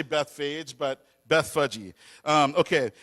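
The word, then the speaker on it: Bethphage: to the towns of Bethage, and apparently it's pronounced Beth Fudgy, but I just can't say that without laughing, so I'll just say Beth Fage.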